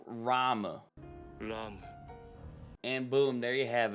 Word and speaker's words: Ram: looking for re-zero moments to where they say rom not ram rom but like it's so like nobody says